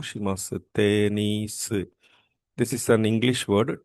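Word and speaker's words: テニス: Tenisu. This is an English word, tennis. Tennis is an English word. So, the word tennis is changed according to the Japanese pronunciation and it was called as tenisu.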